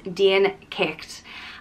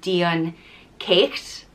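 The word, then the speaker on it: Dian Cécht: of dakda and that's deen kikt and it can be pronounced a few different ways depending on where in ireland you are so some ways to pronounce it are dion caked d on chaos it's kind of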